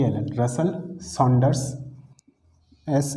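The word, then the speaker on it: Russell Saunders: सबसे पहले इसको देखना कि इसको ठीक है रसल सांडर्स कपलिंग भी बोला जाता है स्पेलिंग में लिख लेता हूं यहां एक मिनट रुकना हां आर यू एस एस ई एल एल रसल सांडर्स एस ए यू एन डी ई आर एस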